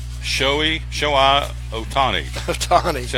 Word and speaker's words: Ohtani: Ohtani. See how I phonetically wrote that out? Yeah. Shohei Ohtani.